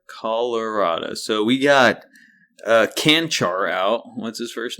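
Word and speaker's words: Čančar: let them vlot vatco it's vatco canar he's Slovenian so C andc and he has like a little upside down triangle over both the Seas if you know what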